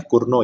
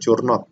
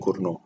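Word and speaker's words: Cournot: kunci adalah Kurno itu, ini nyebutnya Kurno ya, bukan bukan Curnot ya, apa T-nya nggak dibaca, jadi bacanya Kurno.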